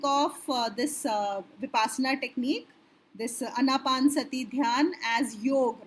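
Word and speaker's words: Anapanasati: No, I always forget how to pronounce that term, but Vipassana, that watching the breath, that is the first one. Anapansati. Anapansati.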